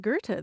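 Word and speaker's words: Goethe: there at one time and gertite is spelled g-o-e-t-h-i-t-e and when i first saw that word grant i thought well that looks like gerta the name of the german poet is there a connection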